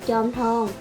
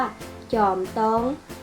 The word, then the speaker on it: จอมทอง: วัด พระ ธาตุ สรี จอมทอง หรือ ที่ ภาษา เหนือ ออก เสียง ว่า จอม ตอง เป็น วัด เก่า แก่